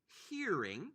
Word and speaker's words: hearing: Number 2, the sense is called in English hearing. Again, pronounce the H.